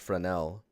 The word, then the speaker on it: Fresnel: just you spell it as Fresnel but it's pronounced for an L but like when you get to the glancing